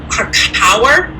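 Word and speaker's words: Krakower: It's Krakauer, but he's known as Ra Uruhu.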